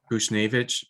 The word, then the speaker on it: Buchnevich: So I'll probably end up keeping Buchnevich, or however you pronounce his name, from St. Louis. Bushnevich.